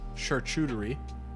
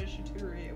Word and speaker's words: charcuterie: Is it a charcuterie or a charcuterie? It's shit-tuterie. Tomato, it doesn't matter. It's literally pronounced both ways.